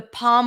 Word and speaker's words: palm: When you have LM at the end, you also don't have to pronounce the L.